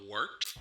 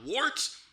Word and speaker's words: Wort: It is the Wort. Not wart, not fort, not short. The Wort.